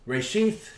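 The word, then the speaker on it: ראשית: really get it to learn reishith pronounced reishi means beginning beginning or chief uh that's the brown driver briggs hebrew and english lexicon page 912.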